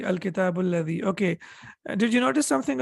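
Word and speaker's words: الذي: So whenever you connect it, you don't pronounce it.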